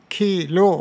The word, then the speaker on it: khīlo: 〈khīro／khīlo〉は同じ単語名詞これ発音の遊びなんです〈khīro／khīlo〉 duddha というのは乳しぼることそこで khīro の場合は乳は khīro と言うんですね R 使うんですこれは日本だったら大丈夫ですね R と L の差が全然ないんだからカタカナにすればキーロー (khīro) キーロー (khīlo) ですね両方も大丈夫ですでもパーリ語では